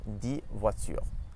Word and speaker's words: dix voitures: So for instance, we have the word cadeau and dix voitures. Dix voitures. So we don't actually pronounce the X there.